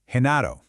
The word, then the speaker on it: Genaro: Same letter, but the sound is completely different. Let's find out why. Okay, so let's break this down. Over on the left, you've got that hard G sound in gato and gordo. That's that G sound, the one you probably expect. But then on the right, with Genaro and girasol, it becomes this soft sound, almost like the H